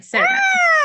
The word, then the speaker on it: Cerna: So this is the one and only Serna. And did I say that right? Yes, you say it right. Serna.